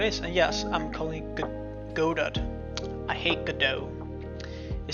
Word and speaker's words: Godot: see how it is and yes I'm calling Godad I hate Godot it sounds like a rubbish could be trying to pronounced like Godot I like go Dad it sounds modern sounds